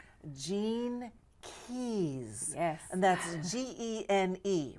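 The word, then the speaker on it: Gene Keys: this and I hope I say it right Jean Keys yes and that's GE NE right yeah is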